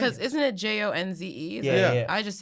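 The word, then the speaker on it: Spike Jonze: Spike Jones. Yeah, I I've been believe saying so. his name all the way wrong. How have you been saying Because it? isn't it Jonze?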